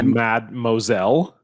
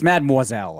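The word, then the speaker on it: mademoiselle: old did you sorry did you pronounce this person's name as mad Moselle I did I said mad it's mad moiselle obviously I said it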